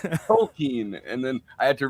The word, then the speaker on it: Tolkien: it's all tolken context which I was pronouncing tolken and I learned from a lot of very angry uh internet posts on Reddit that it's toing and then I had